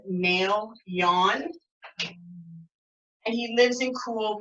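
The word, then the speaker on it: Maelyoun: dragon is known as may Leon is how you say it ma e l y OU n and has said mail yawn and he lives in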